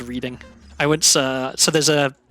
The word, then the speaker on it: Reading: confuses everyone else yeah reading being pronounced as reading I went uh so